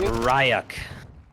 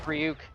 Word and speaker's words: Ryuk: Ryuk. I was pronouncing it Ryak. I think it's Ryuk.